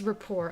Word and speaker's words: rapport: Okay, it is rapport. I just I I pronounced the T even though I shouldn't.